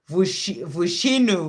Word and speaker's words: Vinu: hadn't seen your um so your name is pronounced vinu vinu okay thank you so